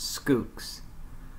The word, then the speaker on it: Schoox: end instead of an L and it is pronounced scoops I've shown the logo below and the video